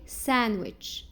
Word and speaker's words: sandwich: Some common words we don't pronounce letter D.